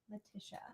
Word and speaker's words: Letitia: Letitia is how you say that.